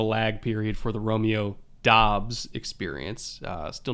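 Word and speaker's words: Doubs: getting into the romeo dubs experience or dobbs is it dobbs is that how we confirmed it's pronounced apparently he wants dobbs and it's funny because we all heard dubs pre-draft so we said romeo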